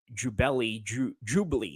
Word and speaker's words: Jabali: I'm sorry, I was going to call him something else. Jabali. That's how you pronounce his name.